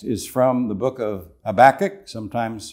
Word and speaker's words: Habakkuk: Our text is from the book of Habakkuk, sometimes pronounced Habakkuk, and it's chapter 2, verse 4, which says, "The just shall live by his faith."